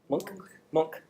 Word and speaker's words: Munch: Munch? Anybody know how to pronounce his name? Monk. Edvard Munch.